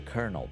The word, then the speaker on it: colonel: listen listen to the colonel boy as your friend get out now while you can things are just i hate the word colonel because you say it like colonel but it's spelled like colonel like really too far